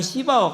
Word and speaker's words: 시바: 우리가 하나님을 알아도 하나님을 경외하지 못하면 시바와 같은 사람이 돼요. 발음 잘해야 돼요. 시바. 잘못하면은 좀 강하게 발음하면 시바가 될 수 있어요.